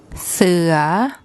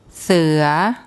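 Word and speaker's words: เสือ: there's no tone mark so for a high class initial consonant and a live syllable we use a rising tone see ya see ya see ya and that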